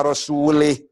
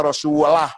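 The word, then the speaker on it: رسوله: Innallaha bari'um minal musyrikin wa rasulih. Salah itu. Allah tidak melindungi orang musyrik dan tidak melindungi Rasulnya. Salah. Bacanya harus innallaha bari'um minal musyrikin wa rasulah. Jangan lih. Rasulah, jangan rasulih.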